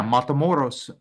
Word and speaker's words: Matamoros: of 4 Americans in the border city of Matamoros. Oh, wow, that's right across the border in Brownsville. Did I say it right? Yeah, Matamoros.